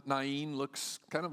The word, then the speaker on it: Nain: country na I know I spent my whole life calling name I looked a little more carefully at it and really the technical pronunciation would be nain so if you want to sound scholarly around people call it nain little village not too